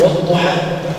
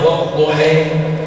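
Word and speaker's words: والضحى: Wad-duha, demi waktu duha. Asalnya kan wad-duhai, kan ada huruf ya yang tidak berbaris di ujungnya. Asalnya wad-duhai. Makanya kenapa di sebagian qiraat yang lain, qiraat Warsh misalnya, dibacanya wad-duhai.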